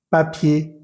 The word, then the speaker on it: papier: No vamos a pronunciar esa R final. Por ejemplo, en la siguiente lista. Danger, boucher, boulanger, cahier, papier, quartier, premier, dernier, léger, entier, pommier, bananier.